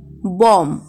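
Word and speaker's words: bomb: এম এবং বি কোনো শব্দে পর পর থাকলে এবং বি এর পরে যদি কোনো ভায়োল না থাকে তাহলে বি এর উচ্চারণ হয় না, কিন্তু কনসোনান্ট থাকলে বি এর উচ্চারণ হয়।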